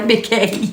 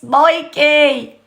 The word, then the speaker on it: Mikey: Mickey, why do I always say Mickey? It's Mikey.